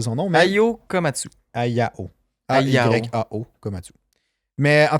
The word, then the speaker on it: Ayao Komatsu: Ayao Komatsu. Je sais pas. Je l'ai ici. Bon, je l'ai plus, là. Je me souviens plus. Komatsu. C'est Ayao Komatsu.